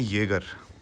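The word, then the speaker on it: Jäger: कल ये चली है, इसको कहते हैं येगर, ठीक है? जे है ना, जे इसमें होता है साइलेंट।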